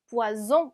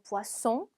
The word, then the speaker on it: poisson: 지금 s가 단어 중간에 두 번 들어갔기 때문에 스 발음을 내주셔야 돼요. poisson 아니고 poisson, dessert 아니고 dessert입니다.